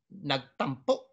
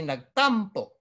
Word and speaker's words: nagtampo: And nagtampo. You don't say nagtampo. See? It's nagtampo.